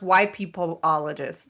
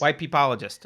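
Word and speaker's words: wypipologist: it w-y-p-i-p-o-l-o-g-i-n why no it's pronounced white peopleologist white peepologist okay yeah white person apologist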